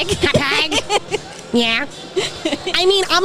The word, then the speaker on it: Hauppauge: I am still live at Tropic Con in Long Island in Hauppauge, right? That's how you say it, Hauppauge, right? Hauppauge.